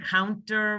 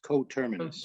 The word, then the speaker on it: coterminous: that's the reason the reason why you guys missed mispronounced coterminus is because the end doesn't belong in the word I just didn't I just saw that oh it's not counter coterminous Terminus oh that's why okay it's